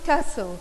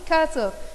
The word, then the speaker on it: castle: after it word bouncy castle bouncy castle tea here is silent okay so repeat after